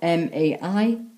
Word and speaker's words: Mai: May in Welsh is spelt M-A-I, and it's spelt as Mai.